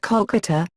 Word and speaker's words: Kolkata: Bengali click I tour while the city's name has always been pronounced Kolkata Bengali kokuto or kala